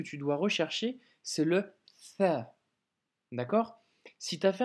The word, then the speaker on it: ث: Par contre, le tha, c'est pas le cas, car ta langue doit légèrement sortir. Le bout de ta langue doit sortir et tes dents du haut, quand tu prononces le tha, vont toucher légèrement ta langue.